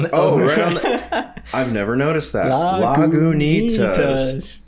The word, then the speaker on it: Lagunitas: Lagunitas. I love how it's knee, like the part of you your have body. to emphasize the knee. Lagunitas. Say it again. Lagunitas.